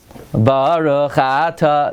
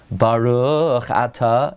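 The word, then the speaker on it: ברוך אתה: In other words, people say Baruch Ata. They mispronounce every single word. Every single word is mispronounced. It's Baruch Ata. It's every word is a milra unless there's an exception.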